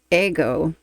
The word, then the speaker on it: Ego: Today, I am going ahead and reacting to the official video of Ego by The Warning and I believe it's pronounced in Spanish Ego.